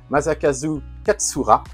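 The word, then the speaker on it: Masakazu Katsura: Wingman, c'est un manga de Maza, alors que je je prononce bien son nom parce que j'ai tendance à l'écorcher. Maakazu Katsura.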